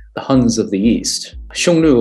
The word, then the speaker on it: Xiongnu: huns of the east xiongnu of course is the modern mandarin pronunciation of those cliffs whereas in old chinese